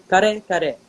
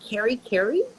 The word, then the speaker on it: kare: And she teaches them, no, no, no, it's not like that. It's kare. You know, some people are Mm. like, carry, care.